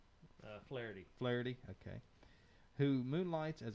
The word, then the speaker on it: Flaherty: And how did they pronounce Mike's last name? Flaherty.